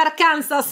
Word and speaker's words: Arkansas: fuori L'Arca Insomma quello Aspetta che si scrive Arkansas Ma si pronuncia arkans Infatti era un po'